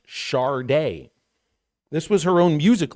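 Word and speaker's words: Sade: he said it even put it in parenthesis pronounced Shard day this was her own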